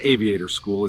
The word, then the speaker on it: AV8R School: AV8R School, pronounced Aviator School, is now building our next wave of future mechanics and aviation leaders.